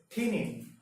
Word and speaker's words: pinyin: One is the Chinese character, the traditional or the simplified Chinese character, and the other is pinyin. Now notice my pronunciation. Pinyin. This is pronounced as pa, pinyin.